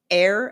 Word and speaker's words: heir: Um, I said other forms, other words with a silent H are hour, air as in HEIR, okay?